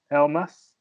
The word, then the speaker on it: Almass: did you say it i said el mas Alma is a version with e so like my name